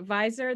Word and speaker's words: WISER: is it visor we it's a bit confusing because the wiser you've pronounced the w but the vidsplatters so it's a visor which is the wits